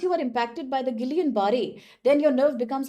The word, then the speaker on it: Guillain-Barré: There are different pronunciations throughout the social media, so don't get confused there. So normally from American pronunciation, people call this Guillain-Barré syndrome.